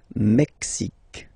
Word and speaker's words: Mexique: Mexique. It's really the X. Huh? Le Mexique. And then remember this Q-U-E, it's only K.